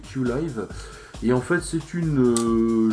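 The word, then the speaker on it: Qilive: alors à la française on pourrait dire Q-Live, mais en fait ça se prononce Q-Live.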